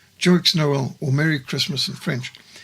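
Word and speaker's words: Joyeux Noël: Christmas together and in 2005 the French film Jox Noel dramatized the Christmas trees in 1914 Through The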